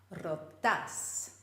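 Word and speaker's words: ρώτα: the end syllable Milas rotas whereas the imperative gets the stress on the second last syllable Mila Rota and did you know that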